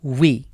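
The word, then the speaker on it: وِ: ওয়াও জের উই।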